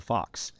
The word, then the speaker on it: Fuchs: Germany and those languages they would say a fols and we would spell it FS as the fox so it's unamerican IED so it's just Fox so if you Google